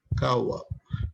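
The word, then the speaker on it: قهوة: La palabra café tiene su origen en vocablo árabe, kawa, que se pronuncia kawa.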